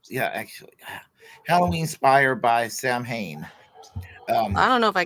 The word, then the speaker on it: Samhain: But holiday is rooted in an annual Celtic pagan festival called Samhain, pronounced Samhain.